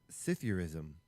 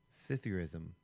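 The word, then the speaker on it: psithurism: Cyurism spelled cyurism. Cyurism. Yeah. Spelled starting with a ps. So p s i t h u r i s m. Hm. Cytherrism.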